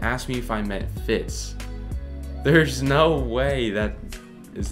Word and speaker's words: Fitz: it there's no way i called fitz flitz for five years the only reason i knew i was saying it wrong was because at a